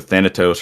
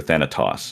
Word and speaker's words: Thanatos: but that's wrong um it's either Thanatos or Thanatos those are the two correct ones but so yeah